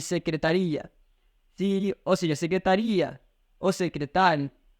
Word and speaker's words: secretaria: diferente e mais rápido, porque o acento tônico fez diferença nas duas. Vamos dizer que outra coisa é secretária, outra coisa é secretaria.